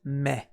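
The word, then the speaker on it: め: The kun reading for this kanji is me. A good way to remember this me is by using me.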